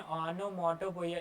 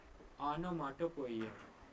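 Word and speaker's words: onomatopoeia: इसको लर्न करने का तरीका देखो कैसे, ओनो फिर माटो पढ़ो फिर पो इया। इसको 4 बार में पढ़ोगे तो तुम्हें स्पेलिंग क्या है लर्न करने में दिक्कत नहीं होगी। जैसे देखो ओनो या ओनो जो भी पढ़ो, फिर माटो, आनो मोटो, पो पढ़े इया, आनो माटो पोइया।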